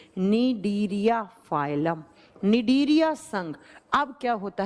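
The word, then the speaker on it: Cnidaria: phylum होता है निंदिया दूसरा होता है निदेरिया सी से लिखा जाएगा प्रोनाउंस किया जाता है एन से निडिया फाइलम अब क्या होता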